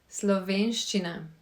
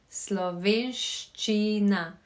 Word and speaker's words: Slovenščina: It is quite a long word and it has those dreaded letters with Karen in it, sh and ch. So this is the correct way to say it. Slovenščina.